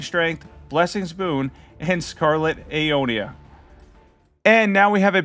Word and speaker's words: Aeonia: Um, Aeonia, that's how you say it.